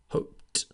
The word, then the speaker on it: hoped: the letter that is the infinitive hope finishes in the sound hope therefore equals so we pronounce the past ending hoped with a t sound don't worry the other